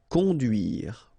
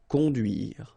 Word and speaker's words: conduire: Okay, remember U, du, duire. Conduire. Conduire.